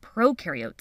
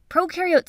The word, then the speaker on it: prokaryote: Prokaryote symbiosis means these organisms live together. So just to recap from our Intro to Cells video, when you think of prokaryote, think of pro rhyming with no nucleus, no membrane-bound organelles.